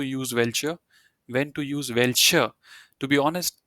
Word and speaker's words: welcher: To be honest, these both are pronounced the same way, because when a German word is ending with the alphabet R or Er, you don't pronounce it. Yeah, you just leave it as it is.